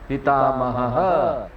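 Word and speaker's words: पितामहः: इसमें उच्चारण में ध्यान रखने का, ऐसे शब्द आएंगे ना ह के बाद अगर विसर्ग है तो उसको हम लोग दो बार बोलते हैं, ह पिता महः, ठीक है।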